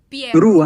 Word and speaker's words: Perrucci: Mira, yo voy a decir pie y tú lo vas a repetir. A ver, pie. Pie. Ru. Pie. Ru, así. No con doble R. Oh, Pieru, okay. Pieru.